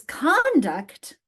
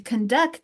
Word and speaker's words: conduct: So I'm trying to put that stress on the syllable. Notice the different stress. The syllable is in. We stress the syllable on the second syllable in the verb form, but we stress the first syllable in the noun form.